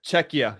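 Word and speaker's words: Czechia: Canada faces off against Czecha. Czech Republic. Is that how you say it? Czech Czecha. Checka.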